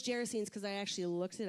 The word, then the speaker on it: Gerasenes: It says, when they crossed the lake to the region of the Gerasenes, now I know it's Gerasenes because I actually looked it up, and I actually didn't just look it up how it's pronounced.